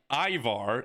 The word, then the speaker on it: Ivar: All right, next up we've got, I've been told, Ivar is how you pronounce it.